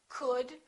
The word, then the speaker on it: could: Could, would, should. Silent L.